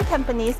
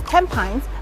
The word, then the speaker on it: Tampines: you know I actually went to research why tanes is not pronounced as tempin but tanes and it's because tones is named